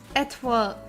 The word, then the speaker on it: Étoile: Étoile. Étoile. Toi, as in like the French moi.